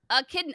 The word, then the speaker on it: echidna: h i d n a there it is a kidney oh a kidney sorry friends a kidneys how you pronounce it he looks he looks like a